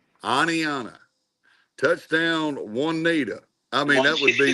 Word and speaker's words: Oneonta: Give me the pronunciation. Oneonta. Oneonta.